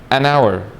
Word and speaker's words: hour: is it silent or no like for example an hour an honest man an honorable man but when